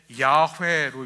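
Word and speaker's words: 야훼: 그래서 우리 성경에 여호와라고 돼 있지만 현재 많은 신학자들은 여호와라는 발음은 틀렸다라고 생각하고요. 대신에 야회로 읽습니다. 야회. 야회 혹은 야외.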